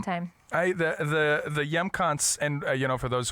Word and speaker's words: Hjemkomst: it's in Mor um and it's spelled HJ e m k o m St it's very Norwegian we're Norwegian up here and the J makes a y sound so it's the yam Center we we actually had